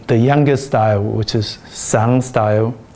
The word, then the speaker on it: Sun: youngest style which is sun style we pronounce it as soon style and i tell my